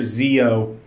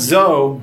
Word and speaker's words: Zi-O: yeah just take that in a Kamen Rider Zeo not zou Zeo you know the old-school Conrad this clown